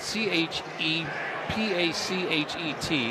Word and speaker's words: Chepachet: You spell it c h e p a c h e t and it's Chepachet, it's in Rhode Island.